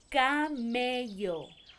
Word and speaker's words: camello: It has two L's next to each other, and it sounds camello.